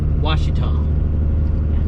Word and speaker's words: Ouachita: pronouncing it correctly before I was pronouncing it was she was shita and it's Ouachita the Washita National Historical